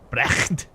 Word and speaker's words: Brecht: No, to pronounce the CHT from my last name, you have to make the sound where you clear your throat and spit. Oh, God. Now you're just trolling me. Brecht.